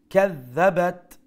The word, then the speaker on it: كذبت: look from the top, كذبت ذال as a shadda double sound, and make sure you pronounce the ذال with the softer tone.